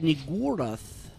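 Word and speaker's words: Niggurath: That's why I pronounce it Nigurath. I try to put emphasis on the U.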